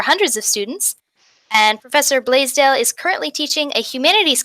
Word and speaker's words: Blaisdell: Oh, I pronounce Blaisdell.